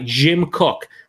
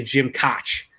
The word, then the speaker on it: Jim Koch: founded in 1984 by Jim cook a lot of people say Jim Koch it's actually pronounced cook they also say [